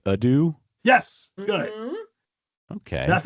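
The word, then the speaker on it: ydw: So, I guess it would be like a dhu.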